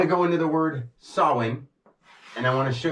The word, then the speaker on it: Samhain: out of that now this being spelled s a m ha a i n and looking like Sam Hayne think of when now it it's pronounced like this sin or SE So when you say